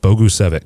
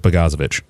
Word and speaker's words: Bogusevic: a great job Brian Bogusevic which I couldn't pronounce his name for the first three weeks Bogusevic Bogusevic yes there we go and I used to pronounce it PAGASA that's just what I went with hey it